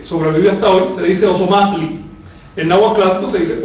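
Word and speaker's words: Ozomatli: Si dicen Osomatli, no olviden pronunciarlo con saltillo. Osomatli. Nunca Osomatli.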